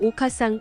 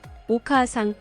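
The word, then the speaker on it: お母さん: 이어질 경우 장음이 됩니다 오카상 오바상 오사카의 경우 오카상 오바상 오사카가 아니라 오카아상 오바상 오사카로 발음해야 합니다 오단 계열 모험이고 뒷글자가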